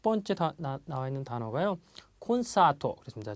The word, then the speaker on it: コンサート: 콘사토 그렇습니다. 자, 콘사토 사가 깁니다. 장음 콘서트라는 의미고요.